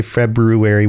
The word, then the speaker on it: February: of February and yes I say February with an extra r in it because that's how it's spelled I don't know what's